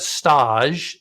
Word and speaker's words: Stäge: Definitely go check this out, especially to go see CT Taqueria, but Stäge, Stage. I'm still going to call it Stage, probably. Yeah, Stage. It's spelled just like Stage.